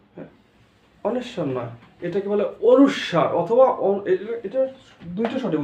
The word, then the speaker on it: অনুস্বার: এটা কি হবে, অনেশ্বর নয়, এখন থেকে আর অনেশ্বর নয়, অনুস্বর অথবা অনুস্বার, অনুস্বর বা অনুস্বার।